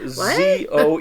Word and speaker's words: Zoeller: So it's Zoeller.